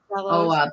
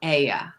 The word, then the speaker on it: Oia: It's pronounced it with an E, that the OI sound in Greek is an E.